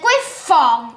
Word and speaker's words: griffon: It's a griffon, not a griffin. Wait, griffon rhymes with griffin.